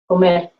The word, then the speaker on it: comer: Is the R silent? Comer, Oh, because Comer. like sometimes hablar. Yeah, it's very light. It doesn't roll. It's comer.